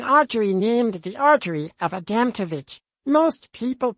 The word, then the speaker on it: Adamkiewicz: Someone got up during Q&A and said, I thought I'd let you know that the artery is pronounced Adamkiewicz. The speaker said, well, you're wrong.